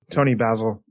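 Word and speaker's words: Toni Basil: Tony Basil.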